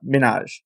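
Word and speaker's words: Minhaj: hell that is because you're not pronouncing his name right I think it's just Hassan Minaj he uh he has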